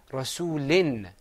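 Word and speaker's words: رَسُولٍ: And beneath the lam, you see two kasras, not one. So we say Rasulin.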